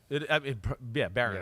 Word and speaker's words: Barron: Barron.